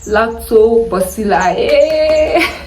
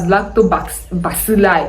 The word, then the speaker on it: lactobacilli: wonderful friendly bacteria called lactobacilli lactobacilli okay but when i checked the pronunciation on google it was the ba was b u h so i mean that's